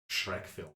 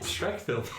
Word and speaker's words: Schreck Film: It's spelled SCHRECK Film. Shrek Film. Sounds like Shrek film to me.